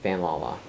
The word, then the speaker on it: FanLala: How do you say it? Fan Lala.